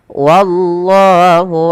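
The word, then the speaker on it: والله: Kemudian pada lafal wallahu alimum bizzalimin. Pada lafal wallah usahakan jangan menebalkan wa, tapi dia wa-nya tipis. Wallahu, bukan wallah, bukan, tapi wallahu.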